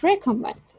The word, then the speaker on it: recommend: For example, in table, table, first syllable here is prominent, and committee, committee, and recommend. Second syllable is stressed.